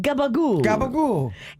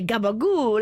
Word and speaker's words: gabagool: and it's very italian if you go try to order it and you don't know how to say it right here they won't do it but up in the northeast if you say gabagul everybody knows that it's this like cured